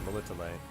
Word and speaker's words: Melitele: Oh, my little That's how you pronounce it, Melitele.